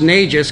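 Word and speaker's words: NAGGES: And so I really start thinking about a North American, it's pronounced NAGES because it really is an outrageous idea, but we're thinking about a North American greenhouse gas exchange strategy.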